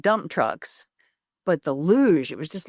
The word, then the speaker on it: luge: behind us and he said, "I believe it's pronounced luj." And the man standing next to me, he said, "No, no, no. It's Lugie." And the the guy who said it was luge walked, he said, "You must be right."